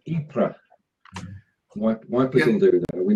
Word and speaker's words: Ypres: It's modelled on the poppies that grew after the Great Battle at Ypres, or however you pronounce wipers, as the Tommy calls it. Ypres.